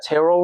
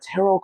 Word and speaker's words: tarot: I feel like that also that tarot world right there, man. Yes. That's how you pronounce it, right? Tarot?